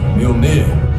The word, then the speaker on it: Mjolnir: It's pronounced Mjolnir.